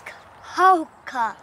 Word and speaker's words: Cahokia: It's Cahokia.